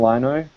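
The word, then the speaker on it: Lynagh: So I think this was Kevin Lino. That's how you pronounce his name.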